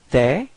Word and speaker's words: tes: Tes. Okay, so same sound, this open E. Okay, don't be afraid to open your mouth. Tes.